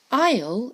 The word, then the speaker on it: Isle: Isle of strew a Isle is a short way of saying island and look again it's got that silent s Katie more eggs Isle